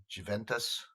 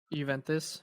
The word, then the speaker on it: Juventus: Juventus. Juventus, yeah.